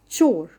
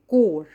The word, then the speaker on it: chore: Chore. We do not call it core. It's chore. Its pronunciation is chore and it means job.